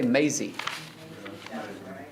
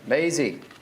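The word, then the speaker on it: Mazzei: Somebody, it's spelled M-A-Z-Z-E-I. Is he here by chance? I want to say Maisie. Maisie.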